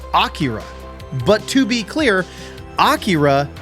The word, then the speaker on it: Akira: dub of this movie which is why I say a Akira not Akira but to be clear